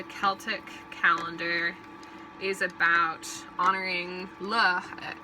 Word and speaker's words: Lugh: calendar is about honoring Lugh i'm probably saying it wrong but it's like l-u-g-h or like lugh or lou one of those who is the sun